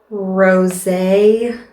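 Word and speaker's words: Rosé: this middle shade so it's called rose and i'm thinking it's pronounced that way because the e has a um what are those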